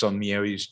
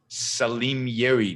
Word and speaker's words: Salmieri: Stephanie says I pronounced Salmieri's name wrong. All right, I don't know. Salimieri, no, Salmieri.